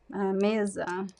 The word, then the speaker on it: mesa: a quick um overview most of the time in Portuguese the words are stressed in the middle the second to last right is very different from English uh so the second to last um syllable is usually stressed like Kaza Kaza uh Mesa Kaza means house Mesa means table CAD means um chair